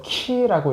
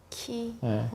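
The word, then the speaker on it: χ: 정확히 말하면 그 X는 X가 아닙니다. 그리스어 키라고 읽어야 돼요. 키. 크리스토스, 그리스도의 첫 글자예요.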